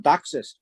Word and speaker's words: DOCSIS: wanted to comment on docsis that's how d-o-c-s-i-s is pronounced docsis is the cable